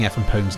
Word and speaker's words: FMPONE: A few people have told me that I'm pronouncing Effanpone's name wrong, which is news to me and